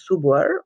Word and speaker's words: Supor: avec votre marque support, qui se prononce Suboer en chinois.